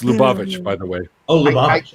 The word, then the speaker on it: Lubavitch: It's Lubavitch, by the way.